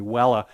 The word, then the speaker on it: Vela: one should point out the constellation vela the old Latin pronunciation would be Wella these are really interesting